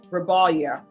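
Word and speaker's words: Rebollar: Salada Rebalia R E B O L L A R. And I'm sure those L's are supposed to be pronounced with a Y.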